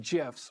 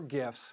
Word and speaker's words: GIFs: And my kids' favorite, JiffyCat, a solution for finding and inserting GIFs or GIFs, whichever pronunciation you prefer, to make your emails more engaging, expressive, and fun.